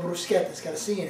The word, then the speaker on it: bruschetta: bruschetta oh it's not called brusquehanna it's called brusquet that's got to see in it but I